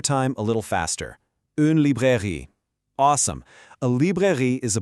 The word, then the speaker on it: librairie: Let's pronounce it. Une librairie. One more time, a little faster. Une librairie.